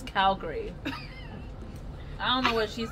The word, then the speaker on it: Calgary: It's Calgary. We have a C-A-L-G-A-R-Y. Calgary. Calgary is how it's pronounced.